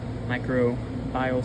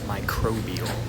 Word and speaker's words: microbial: also sprayed the um micro bile spray I think that's how you pronounce it that's actually not how you pronounce it it is microbial so just want clear